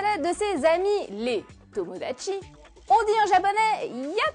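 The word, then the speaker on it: 友達: C'est le mot tomodachi qui veut dire ami.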